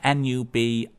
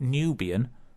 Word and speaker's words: Nubiyan Twist: That's Nubiyan. So it's not Nubian, Nubiyan.